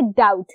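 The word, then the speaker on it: doubt: ये है डाउट, डोएट, डोट या डोएट, इनमें से कुछ नहीं है. ये डाउट है जिसका बी होता है साइलेंट, लिखते जरूर है लेकिन ये साइलेंट होता है.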